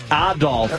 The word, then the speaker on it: Adolf: Adolf as the proper pronunciation.